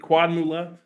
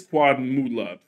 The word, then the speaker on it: Quadmula: to say their name is it quadmula quad Mula nope it's quad mood love oh dang it now I've forgotten quad Mula like quad money but not money because everything you buy